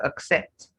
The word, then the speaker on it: accept: What many people often do is to say s in such cases. So that gives you a clue. Whenever you have a word that is spelled with two C's and then you hear people say s for the two C's, just know that you're meant to say ks.